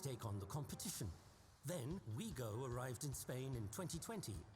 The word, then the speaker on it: Ouigo: Then Ouigo arrived in Spain in 2020, in the middle of the pandemic.